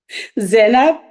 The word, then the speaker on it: Zena: How do you say her last name? Zena. Zena? Yeah. Okay, Amma Zena.